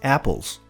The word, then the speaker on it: apple: O primeiro som da palavra apple não existe no português. Ele está entre o A e o E. É. Apple. Apple. Para fazer esse som, você abre a boca como se fosse falar o A e pende pro E.